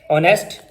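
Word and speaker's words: honest: मसलन आवर, ऑनेस्ट, honour, hair, herb.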